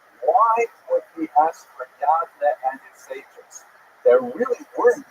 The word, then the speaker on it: Yavnea: So the Roman term for Yavne is Yavnea, sometimes with a J, pronounced J, but really it's Yavnea.